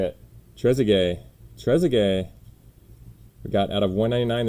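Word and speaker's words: Trézéguet: they just told me how to say it trezzigay we got out of 199 this time 196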